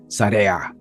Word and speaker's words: SAREA: So, but before we continue, let me introduce the band Sara.